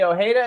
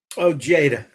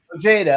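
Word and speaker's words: Ojeda: Um, they were founded by John Blae and former Twisted Sister guitarist Eddie Oha. Is that how you pronounce his last name? Ojada. Ojada. Okay. Eddie Ojada.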